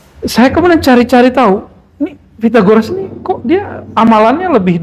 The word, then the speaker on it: Pythagoras: e Sundanya Pi pyagoras th itu bacanya t pitagoras dan saya kaget kok